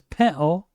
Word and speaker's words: pintle: Gary then finds a pintle, and the production team opts to put the translation on the screen because Gary does not pronounce the T. He says pintle.